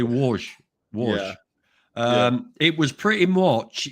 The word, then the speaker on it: Łódź: Yeah, the place I went to was Łódź, which is spelt Lodz. So to me, it reads Lodz. Yeah, the L with the line through it, right? Yeah, so it's actually Łódź.